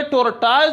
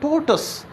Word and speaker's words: tortoise: तो ये टोर्टाइज जो है जिसको हम कछुआ कहते हैं, तो ये टोर्टाइज है नहीं, बिल्कुल गलत है, ये है टोटस।